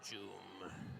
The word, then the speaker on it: Joom: Yeah, look at Joom's face, bro. Evil Joom. Rhymes with Doom. Joom.